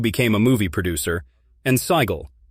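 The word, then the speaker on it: Sighle: Their other children were James, Susan, Joanna, who became a movie producer, and Sigel, pronounced like Sheila.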